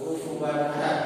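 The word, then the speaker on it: كفوا أحد: Maka cara membacanya harus jelas. Kufuwan ahad.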